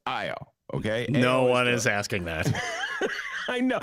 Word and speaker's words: Ayo: the name is spelled ayo shouldn't it be pronounced ao no it's io okay no one is asking that i know